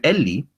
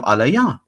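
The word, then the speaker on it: אֵלִי: And it begs the question, why did this ancient source render it Eli instead of alaya? Well, let's just exactly the way we would say it's pronounced.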